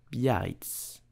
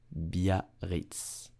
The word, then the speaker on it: Biarritz: Ah, so how do you pronounce it correctly in French? You will say Biarritz. Biarritz. Biarritz.